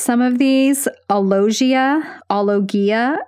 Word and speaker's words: alogia: I might mispronounce some of these. Alogia, alogia, it's A-L-O-G-I-A, also known as poverty of speech.